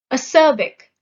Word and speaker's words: acerbic: Acerbic. The stress is on the second syllable.